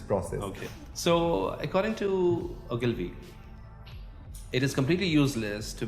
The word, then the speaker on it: Ogilvy: Yeah, and then there was another an advertising agency, the Ogilvy and Mather. That's how you pronounce it.